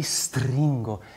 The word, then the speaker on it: stringo: Pur ti stringo, stringo. It has something, some value to, how do you say in english, to break. Stringo, stringo. So make sure you have a very expressive S.